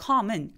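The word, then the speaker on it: calm: 진정해 할 때 come m 앞에 있는 엘도 발음하지 않습니다 아까 work처럼 그래서 턱 엄청 벌리면서 혓바닥이 바짝 바닥에 누워지는 약간 아소리에 비슷한 com come 이런 소리가 났는데요 그 다음에 두 번째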